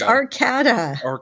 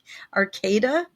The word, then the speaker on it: Arcada: If there's one consonant between two vowels, the first vowel is a long sound.